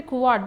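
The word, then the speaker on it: couvade: What do you mean by Kuwad? That has to be pronounced as a Kuwad only. It is a French word, it has to be pronounced as Kuwad.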